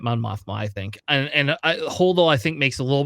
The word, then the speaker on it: Holdo: emilyn Holo yes Holo is that how you spell it h o l o at the end yeah holdo all right I I'm gonna throw her in